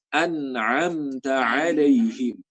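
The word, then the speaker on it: أنعمت عليهم: Kadang-kadang bacanya an'amta alaihim. Hamzah semua. Nah, ini salah. Harusnya hamzah yang di awal, yang kedua sama ketiga itu ain semua. An'amta alaihim.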